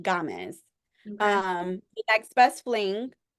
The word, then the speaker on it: Gamez: I think she pronounces Gamez. It's not games. I think Gamez.